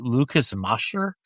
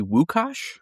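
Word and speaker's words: Łukasz: Okay, now we're And Steve, please I hope I pronounced Lucas's name right. Lucas Masher. Uh it's actually Wukos.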